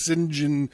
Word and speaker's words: St John: think his alias was sinjin smythe but it was spelled s t john smythe but he when he pronounced it he pronounced it sinjin smythe so i've been carrying